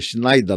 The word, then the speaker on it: Schneider: sua profissão antigamente então Schneider quer dizer Schneider na verdade a pronúncia correta quer dizer Alfaiate Então